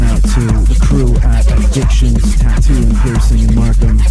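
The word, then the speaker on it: Akshunz: It is spelled A K S H U N Z. Addictions, tattoos, and piercing.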